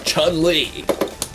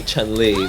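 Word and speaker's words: Chun-Li: Japanese pronunciation but then he can't actually say Chan Lee the way that our Japanese person would say Charlie this is really annoying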